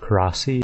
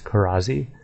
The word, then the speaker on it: Karazi: Next is one that I think is probably mispronounced a lot because for some reason the Z or the S is pronounced as a Z, so instead of Karasi it's Karazi. Karazi.